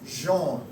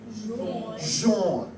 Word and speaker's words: Jean: So in French, John is pronounced Jean. Jean.